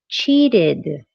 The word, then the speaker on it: cheated: For example, for the verb to cheat, the base form word cheat ends with a T. So you're going to use the sound D because the verbs in base form or the base form words that end with a T or a D are going to use the it sound.